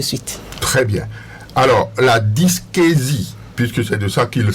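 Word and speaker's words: dyschésie: voilà ainsi de suite très bien alors la dysquésie puisque c'est de ça qu'il s'agit qu'est-ce que vous qu'est-ce que vous mettez dans quelle est cette maladie là la dysquésie reprononcez cela correct vous le prononcez déjà très très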